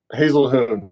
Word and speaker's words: Haselhuhn: real last name yep Hazel Hoon so it's Hoon I've got one of those names that uh does not pronounce anything like it's spelled so sounds like a